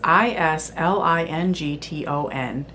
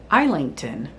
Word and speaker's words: Islington: I was pronouncing that in my head as Ilington. The narrator pronounced it as Islington. Okay, I can see where it could go either way, but there's another character